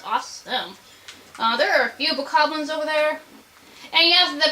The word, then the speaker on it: Bokoblin: There are a few bokoblins over there. And yes, the pronunciation is bokoblins, not bokoblins.